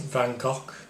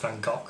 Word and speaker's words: Van Gogh: by this chap, Vincent van Gogh. I think it's pronounced Van Gogh if you're Dutch, but I don't know.